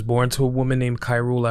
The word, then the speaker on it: Khairul: She was born to a woman named Khairul Abdul, sometimes pronounced Carol, and a man named Parmjit Singh.